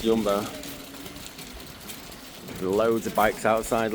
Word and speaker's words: Jumbo: And then you're here at Yumbbo or Jumbo as Brits would call it, Jumbo, but I do believe it's pronounced Yumbo.